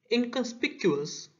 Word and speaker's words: inconspicuous: Inconspicuous word is made of 5 syllables. In Con, speak, q, us. Inconspicuous.